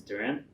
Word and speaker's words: Dhiren: My name's Dhiren. Many ways to pronounce it. You'll get Darren for sure.